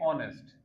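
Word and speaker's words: honest: सो पहला वर्ड हम लिखेंगे ऑनेस्ट। अब ये एच से स्टार्ट हो रहा है। लेकिन एच साइलेंट होता है तो ऑनेस्ट लिखा जाएगा।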